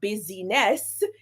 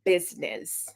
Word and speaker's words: business: and then with business the i in business is silent because it's not business it is business all right so the